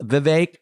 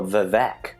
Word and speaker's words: Vivek: Well, I heard you say it's like Victor and like rhymes with lake.